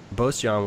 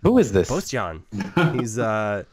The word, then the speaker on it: Boštjan: Boštjan was talking about what console to get for his kids. He said he's never played video games, which kind of boggles the mind. Who is this? Boštjan.